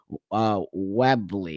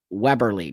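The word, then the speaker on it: Webberley: Webley. Is that how you pronounce her name? Weberly, Dr. Weberly. Okay.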